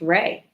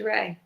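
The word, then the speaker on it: Rhea: a couple weeks ago, her first name is pronounced Rey. Oh, okay. I've been calling her Ria Seahhorn for for through all of better calls and it is Ray.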